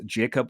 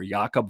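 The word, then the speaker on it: Jakub: i'm talking about is jacob vrana or jaka vrana depending on how you say his name uh i've heard different things and i i think he said what he told a banan benanati was it's fine if you call me jacob because i'm in america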